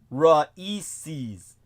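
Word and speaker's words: RAICES: all in the uppercase it's an acronym pronounced raes but it stands for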